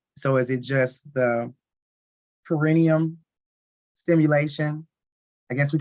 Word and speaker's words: perineum: The perineum. Perineum. Perineum, that's how you say it.